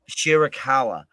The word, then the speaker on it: Shida Hikaru: Shida Hikaru.